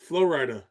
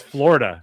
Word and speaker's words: Florida: How do the locals say the word Florida? Fluorita? No, there's no fluorida. There's only one flow and one rita. It's Florida. There's no there's no I.